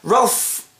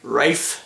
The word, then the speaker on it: Ralph: that's a good point Ralph sorry Rafe is say how it's spelled r a l p h Rafe finds um finally